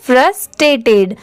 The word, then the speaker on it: frustrated: अब जैसे देखिए यहाँ पर FRUS इतना क्या हो गया? फ्रश। ठीक है, आप भी मेरे बात प्रोनाउंस करिए। ये हो गया फ्रश। TRA इसे हम क्या प्रोनाउंस करेंगे? ट्रे। और TED टेड। ठीक है, अब जब इन तीनों को साथ में मिला देंगे तो फ्रस्ट्रेटेड, फ्रस्ट्रेटेड। ठीक है, फ्रस्ट्रेटेड।